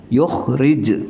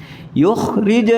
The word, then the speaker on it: يخرج: لنا مما تنبت الأرض yukhrij qalqalah. Jangan yuh itu berarti ha. Tapi yukhrij lana mimma tunbitul ardu min baqliha wa qithaiha wa fumiha wa adasiha wa basaliha.